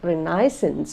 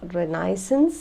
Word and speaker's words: Renaissance: know what renissa's is renaissance or renisa you can pronounce it any way you like some pronounce it as renaissance some as renaissance some as ranisa so anyhow it was